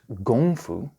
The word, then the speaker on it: kung fu: first let's start with kung fu pronounced gongfu the first character means